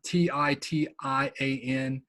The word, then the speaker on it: Titian: who's my artist is Titian um ti ti a n you pronounce it Titian some of you I